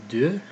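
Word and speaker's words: deux: have do and it's not doe it's due next we have claw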